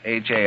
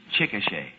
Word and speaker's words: Chickasha: That is not right, I've No. taken. The name is pronounced Chickasha. Chickasha. Yeah. Oh, well, I'm very happy to... Chickasha. Well, it could just as well be Chickasha, you know.